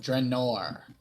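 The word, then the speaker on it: Myth Drannor: Not Dramor, Drenor. N-O-R.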